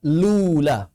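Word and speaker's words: الأولى: Maka Al-Imam Al-Jamzuri melanjutkan perkataannya, beliau menyatakan wala malula, cara bacanya lula.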